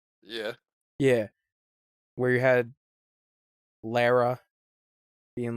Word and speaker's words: Lara: Yeah, where you had Lara being like, it is Lara Croft, not Laura. No, that's a mispronunciation. No. Lara, excuse me. Not Lara. Not Laura. Lara.